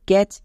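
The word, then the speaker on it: catch: তাই এটা হলো ব্যাচ একই রকম ভাবে ক্যাচ এখানেও দেখো শেষে টি সি এইচ এর জন্য চো আর সি এ এর জন্য ক্যা তাহলে কি দাঁড়ালো ক্যাচ এখানেও টি সাইলেন্ট কেন কারণ টি এর পরে সি এইচ আছে বা সি এইচ এর আগে টি আছে তাই টি সাইলেন্ট নেক্সট ম্যাচ এখানেও টি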